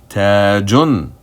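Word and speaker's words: تاجٌ: You have a ta letter with a fatha short vowel, and then you have the alif long vowel, and then a tanween dhamma on the JEEM letter, which appears on its own at the end of a word. The pronunciation will be tajun, tajun.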